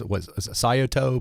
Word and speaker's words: Scioto: Yeah, and the name of your consulting is Sayato Productivity Solutions. Is that how you say it? Yeah, Scioto is a river.